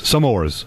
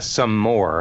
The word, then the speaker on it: s'mores: I believe it's s'more. Okay. Like a s'more, not a some more. Now, Or else they would have broken out the two separate words. It's s'mores.